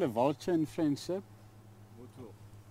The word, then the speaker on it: vautour: Vautour. Vautour. Yeah. Vautour. How do you spell it? V-A-U-T-O-U-R. Vautour. Vautour. Vautour. There is a R at the end.